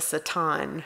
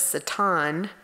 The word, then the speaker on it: Satan: the presence of the Satan, right? And in the commentary I read, it says it's pronounced with a short A sound.